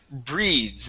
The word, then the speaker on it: breeds: Next up, we have the word breeds instead of breeders. Okay. It is a ds sound. Breeds.